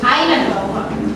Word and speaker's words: island: nya i onodo isod darah in common on sama destination and the komodo na komodo komodo ini tadi bacanya island kata s-nya itu silent silent itu berarti engak dicapin ya di ya island ya